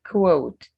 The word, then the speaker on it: quote: time please quote quote make sure you pronounce the after the so you say quote it's not code they code that's c-o-a-t quote is q-u-o-t-e google google it through